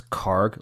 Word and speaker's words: Kharg: Actually, the way people pronounce it in English uh in English uh press is is Kharg like um like a G at the end.